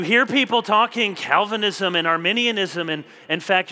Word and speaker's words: Arminianism: people talking Calvinism and Arminianism, and in fact, you're going around and you're mispronouncing it, and you're saying, oh, these Armenians, and there's people maybe from Armenia who are feeling really bad.